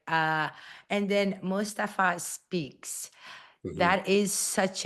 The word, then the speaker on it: Mustafa: Yeah, we don't exaggerate on the M.